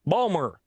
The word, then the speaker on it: Baltimore: And people from Baltimore never say the word Baltimore; they say Balmer. Really? Yeah, they can't pronounce the name of their own city.